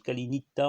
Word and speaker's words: kali nifta: En fait, ça se prononce Kalinita en italien, en grico.